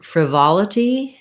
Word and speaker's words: frivolity: about a request for frivolity and frantically so frivolity um has second syllable stress that vol is just like in volume where we have an ah vowel so thinking about it